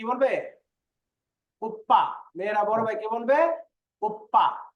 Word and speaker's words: 오빠: Oppa, Oppa উপ্পা। এই এখানে একটু বিষয় খেয়াল করেন, এখানে বলতেছে আপ্পা আর এখানে উপ্পা। এটার মানে উচ্চারণটা কিন্তু আমাদের প্রায় সিমিলার, কিন্তু অর্থ কিন্তু পার্থক্য আছে।